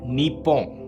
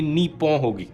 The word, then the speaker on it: Nippon: If you see it written in English, you will pronounce it as Nip-Pon. But the real pronunciation will be Nee-Poh.